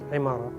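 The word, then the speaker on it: عمارة: So this is the word, but always try to focus on ain, because pronunciation in Arabic is extremely important. So you need to focus on it. Imara, never say oh, e. All these sounds will not work here because it's not starting with alif, it's starting with,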